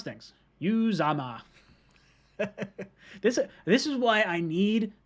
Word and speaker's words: Uzomah: See, this is how you pronounce things. Uzomah.